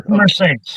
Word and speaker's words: Bessemer Saints: Uh, let everybody know about I hope I'm pronouncing it right. It is Bessmer Saints, right? Yep. Bessemer. Yeah. Bessmer. Bessmer Saints.